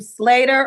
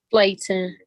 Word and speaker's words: Slayton: Yes, All right, is your name Slater or Slayton? Slayton. Oh, We want to pronounce it correctly, okay? Her name is Slayton.